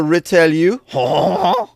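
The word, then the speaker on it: Retailleau: Retalu. Bruno Retalu. I don't know if I'm saying any of this right. Here's how you say it right. Bruno retellu.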